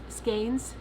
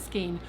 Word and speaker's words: skein: And I think that the darker skeins. Somebody sent me an email and said it's skein, not skein, which I know it's skein as in neighbor, okay, and I usually